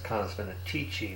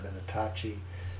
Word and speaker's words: Canis Venatici: This is still in Canis Venatici, and I was pronouncing it wrong. It's Canis Venatici, not Venatacci.